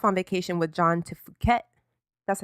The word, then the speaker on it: Phuket: So Fergie takes off on vacation with John to Phuket. That's how you say it, right? Yeah. To Phuket and Saint-Tropez and shit. Meanwhile, someone at the The palace correct pronunciation is fuck it.